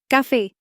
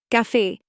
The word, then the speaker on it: café: For example, café, coffee emphasizes the second syllable, café.